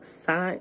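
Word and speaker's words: sine: cn is pronounced as sign is a sign i say is s-i-n-e is it sign it's not seeing sign like sign like that sign says hello is it oh as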